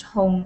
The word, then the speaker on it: Hong: My full name is Hong Yi, and Hong is pronounced Hong in China, and that sounds like the word red in Chinese.